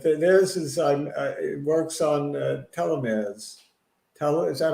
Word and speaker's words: telomere: But theirs is it works on telomeres.